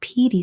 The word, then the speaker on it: Pedy: It's pronounced Petey.